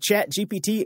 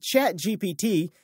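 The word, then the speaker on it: ChatGPT: speakers right now because in French phonetically chat GPT sounds exactly like cat I farted CH everywhere on TV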